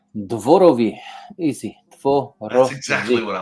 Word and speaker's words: Dworowy: and to be here okay so I I butchered your last name how do you say your last name dvorovi easy that's exactly what I was gonna say